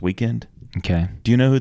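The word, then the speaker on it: The Weeknd: of his songs and they don't even spell it right it's we w e k n d or something it's pronounced weekend okay do you know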